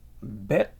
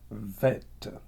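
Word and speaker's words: בית: Il y en a qui la prononcent Bet et puis il y en a qui la prononcent Vet.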